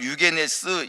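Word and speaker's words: εὐγενής: 이 너그러운 마음을 헬라어로는 유게네스 이렇게 발음을 하고요, 고상하다는 뜻입니다.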